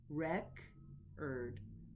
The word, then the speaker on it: record: Next, the word record as a noun is stressed on the first syllable, record, record.